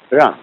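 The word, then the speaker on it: 仁: Although, when we romanize this word in English, we spell it J-E-N, it's pronounced Run. Sort of like rolling an R, or rather saying R, but not rolling.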